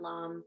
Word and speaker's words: lam: root chakra meladara is lamb lamb is l-a-m so that you know what it sounds like or how you spell it so we'll chant lom three times and again